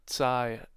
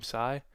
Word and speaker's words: Tsai: I think Joe Tsai, I think is how you pronounce his name, Tsai, the Nets owner was just kind of like,